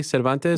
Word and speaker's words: Cervantes: in mma for combatte americas as uh melissa cervantes am i pronouncing your name correctly cervantes yes yes um yes and what is interesting